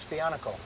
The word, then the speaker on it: Fico: just keep saying that my name's FICO not finocchio finocchio rhymes with Pinocchio my name don't rhyme with Pinocchio how about I call